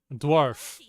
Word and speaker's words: dwarf: eoin animal donkey incorrect dwarf rhymes with scarf now say darf can